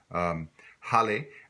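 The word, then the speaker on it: haler: for to to pull Holly has an H at the beginning and in Louisiana French we pronounce the H internationally you might not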